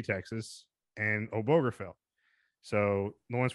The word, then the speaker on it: Obergefell: Obergefell. Is it the G? You pronounce the G in that? Obergefell.